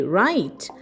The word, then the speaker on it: write: It's W R I T E. Right?